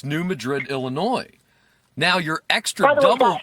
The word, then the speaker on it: Madrid: near the prime healing spots no it's New Madrid Illinois now your extra double your extra double bonus yes that is pron that is pronounced Madrid it's the fault it's the earthquake fault the